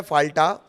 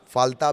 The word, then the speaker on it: फाल्टा: एक सीट है फाल्टा, फाल्ता भी इसे आप कह सकते हैं प्रोनाउंसिएशन के हिसाब से।